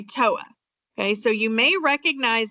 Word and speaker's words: TOA: And then on the back, you'll see, if I can see it, TOA, which we're going to say TOA.